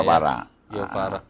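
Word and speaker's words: Guevara: c gufara c guafara bacanya gufara itu bukan orang Indonesia Iya terus awal pertama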